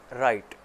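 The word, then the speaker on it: write: ठीक है इसी तरह राइट राइट लिखना ठीक है उसके शुरू में भी व आता है उसको हम नहीं देखते इसी तरह एक वर्ड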